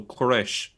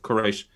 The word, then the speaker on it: Quraysh: Yes, I suppose this is open to discussion, but the word seems to be related to the Persian pronunciation of Cyrus, so Quraysh.